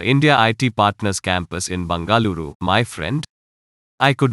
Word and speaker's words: Bengaluru: pronounce its new name it's now called Bengaluru that is how it is called in kannada my native language any family still in